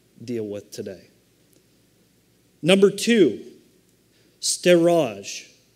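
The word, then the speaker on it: storge: Number two, steraj. And it looks like storage to me, but that's not the way it's pronounced.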